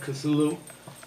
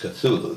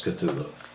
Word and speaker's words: Cthulhu: it's an alien name the closest you can get is to make a coughing sound and it's more like claw that's as close as we can get but we know him as cthulhu catholic made a very